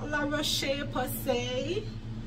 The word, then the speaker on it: La Roche-Posay: Okay, La Roche-Posay, that's how it's pronounced.